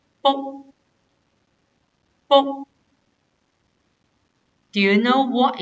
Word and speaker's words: 卜: For this character, we pronounce as bo.